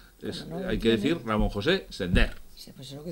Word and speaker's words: Sender: comete mucha gente y Sender se pronuncia así, como vender, como tender, como pender. Si tuviera acento en la primera E, habría que decir Sender, pero hay que decir Ramón José Sender.